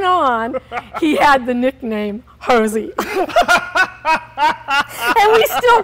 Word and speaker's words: Jose: And it has Hosey on it. And his name is spelled? J-O-S-E.